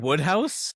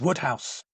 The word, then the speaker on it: Wodehouse: Is it Wodehouse? It's Woodhouse. But it's spelled Wodehouse.